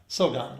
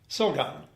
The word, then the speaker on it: Silgan: The A is pronounced like a short A. Yeah. Silgan. Yeah. Silgan.